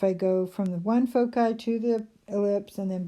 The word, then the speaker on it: foci: pronounces at foci and I took a Latin class a few years ago and they don't even have a soft C sound so in Latin you